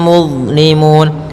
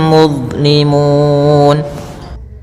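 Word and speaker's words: مظلمون: Muzlimun, Allah jangan dibaca muz, jangan juga muz, ya, tapi dia mudza, muzlimun, yaitu kemudian di sini ada huruf waw yang huruf mad sebelum huruf akhir.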